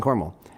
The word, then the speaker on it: Cornwall: to cornwall cornwall or cormel cornwool it's it's pronounced cornwall it's spelled c-o-r-n-w-a-l-l like cornwall but you don't